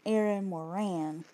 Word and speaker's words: Moran: and I I said her name Aaron Morgan it's Aaron Moran sorry y'all for the